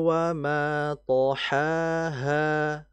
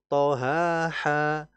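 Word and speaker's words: وَطَحَاهَا: Wal ardhi wa thaaha. Hati-hati. Ha ha ha. Jangan th ha ha atau thha ha ha atau thha ha. Nah jangan. Ini pasti akan berbeda makna.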